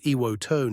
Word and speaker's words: Iwoto: It's called Iwoto now, a small change reflecting proper Japanese pronunciation.